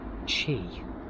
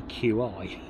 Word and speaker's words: Qi: got wireless charging capabilities i think it's called chi always say qi um but that's how it's spelled qi so if you've got